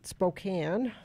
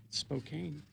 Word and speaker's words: Spokane: I went up to Spokane for my niece's graduation she's gonna keep mispronouncing it Spokane look at the way it's spelled bein Mary Claire made